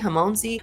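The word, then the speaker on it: Hormozi: They have, in the last conference that had Alex Hamorzi. I always botch his name, poor dude. I'll make sure I insert how you say his name. Hamonzi.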